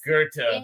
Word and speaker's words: Goethe: We have a and street called you have Gothi that's so many technically pronounced Goethe.